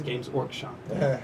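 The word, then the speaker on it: Games Workshop: shop that makes it everyone pronounces the W for whatever reason it's silent it's gamees orc shop they sell Orcs And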